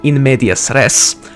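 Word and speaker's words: in medias res: part but also to sort of start you in media stress or uh actually let's pronounce that properly in media stress or to start you in the middle of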